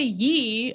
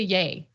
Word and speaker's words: Ye: I used to say ye like a loser because I didn't think about it, but it's just Kanye shortened to yay.